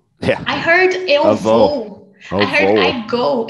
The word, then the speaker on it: vou: Vou. Avô. I heard I go. Eu vou. Eu vou. Avô. Be avô. Careful when you pronounce grandfather and when you say I go. I go, eu vou.